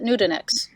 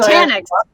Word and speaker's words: Nutanix: strategy and solutions at nudenext i always i always say it wrong man i'm thinking of nutella it's a terrible company name for that reason that's the only reason nutanix so that you know